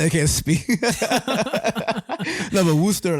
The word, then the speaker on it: Worcester: And I know it's pronounced Worcester because I've been there.